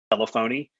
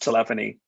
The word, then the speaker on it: telephony: It looks like telephony, but it's pronounced telephony.